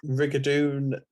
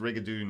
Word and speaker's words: rigadoon: But they're all pronounced Rigadoon like that, even regardless of the spelling.